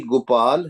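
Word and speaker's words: ਗੋਪਾਲ: Whenever you see this with the hoda and anker only pronounce gopal pronounce with with the word with the matra of anker toti gandahar gopal gopal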